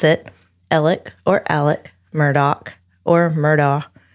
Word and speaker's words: Alex: And he pronounces it himself as Alec or Alec. Because, you know, it's like Alec. It's just the way, the drawl that people have.